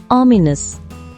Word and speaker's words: ominous: இந்த வேர்டை எப்படி ப்ரொனவுன்ஸ் பண்ணணும்னா ஆ மீ நஸ், ominous.